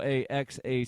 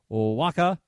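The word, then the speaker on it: Oaxaca: correctly it's spelled o a x a c a I believe based on my limited knowledge of espanol that is pronounced Waka not AXA but in the southern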